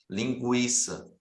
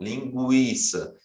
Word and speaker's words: linguiça: senão pronuncia oo e quando tem o trema era para indicar que o ou era pronunciável né você conseguia ouvir a letra U linguiça você consegue ouvir Rua linguiça e o sangue você